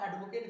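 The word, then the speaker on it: advocate: और जब भी एडवोकेट एज a noun use होगा तो उसको प्रोनाउंस आप एडवोकेट नहीं कर सकते। राइट प्रोनंसिएशन होगा एडवोकेट। सो ये नाउन रोल प्ले कर रहा है और उसका प्रोनंसिएशन रहेगा एडवोकेट नॉट एडवोकेट।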